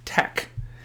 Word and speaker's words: TeX: markdown Tech examples so teex is pronounced Tech and so this is